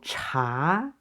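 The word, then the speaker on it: 茶: And this one, chi, and a second tone going up, so cha.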